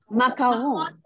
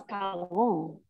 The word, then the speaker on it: macaron: How do you pronounce it? Macaron. Macam Eva Peron. Yeah. Macaron.